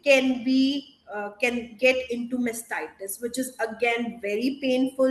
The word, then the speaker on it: mastitis: It's called mastitis.